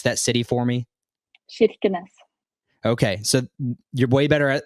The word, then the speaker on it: Kirkenes: So Molde, Norway, you're Norwegian, but your hometown, your birthplace, can you repronounce that city for me? Kirkenes.